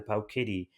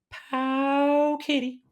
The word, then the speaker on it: Powkiddy: like the pampering the pow kitty yeah all right I need to say it correctly pow Kitty that's the way I